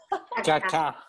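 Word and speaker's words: Kaká: goals and kak kaka kaka you don't know them Kaka sounds right we would say like kaka kaka so it's like Kaka the second syllable is enunciated kak scored 11 goals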